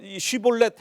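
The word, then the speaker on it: שיבולת: 사람이잖아요 살 그러면 또 마찬가지예요 너 너 너 쉬볼렛 해 봐 이렇게 발음을 하게 해가지고 발음을 제대로 못하고 시골넷 시볼렛이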